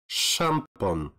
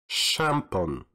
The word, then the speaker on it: szampon: Next is the combination of S and Z, and you should pronounce it as sh, sh, like szampon, szampon.